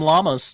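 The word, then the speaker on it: Llamas: Tom Lamas knew that it's spelled Lamas. That's why I say it that way.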